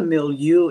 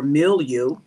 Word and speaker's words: milieu: you all right is you pronounce it m-e-e-l meal n-y-o-u okay and what a mill you is bless the Lord Amel you or milieu is a person's social